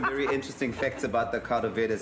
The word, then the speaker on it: caldo verde: This is a caldo verde.